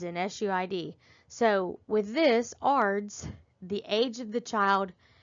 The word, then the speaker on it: ARDS: and that's ARDS, acute respiratory distress syndrome, ARDS, pronounced ARDS.